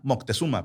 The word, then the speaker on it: Moctezuma: Motecusoma. ¿Cómo? Motecusoma. Ah, Moctezuma. Perfecto. La concha de tu hermana, te comiste sílabas.